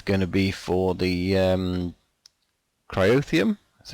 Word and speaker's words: cryotheum: So this area here, this is going to be for the cryotheum. That's how we pronounce it.